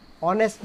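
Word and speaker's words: honest: नेक्स्ट आए यहाँ पे 16 number, he is dash ऑनेस्ट, ऑनेस्ट में एच साइलेंट है इसलिए यहाँ पे एन ऑनेस्ट एन ऑनर्ड।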